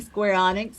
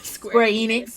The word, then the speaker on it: Square Enix: used to love stairs I I love saying Square Onyx and then I had to give up the ghosts and say Square Enix and now I just say y'all feel better